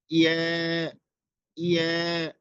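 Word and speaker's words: ي: এরপরে হচ্ছে ইয়া ইয়া, এটা তিনটা অক্ষর একসাথে উচ্চারণ হয়, জিম শিন ইয়া, এবং ইয়াটা খুব শক্তভাবে উচ্চারণ হবে, ইয়া জিম শিন ইয়া জিম শিন ইয়া।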